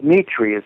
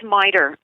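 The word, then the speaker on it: MITRE: of mclen Virginia MIT Corporation merer merer well Mitri it's pronounced Mitri okay they have I know that many people hear it as miter but yes MRI go ahead uh slesinger was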